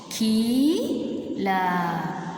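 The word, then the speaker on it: किल: So ki, la, kil. This is long pronunciation, children. Ki, la, kil. This is short pronunciation, kil. This is long pronunciation, keel.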